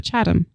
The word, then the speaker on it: Chatham: Chatham, like Adam. On. Chatham. Oh, sorry. Maybe I pronounce it better. Chatham. Superhero? Like Shazam? Like Saddam, Amy.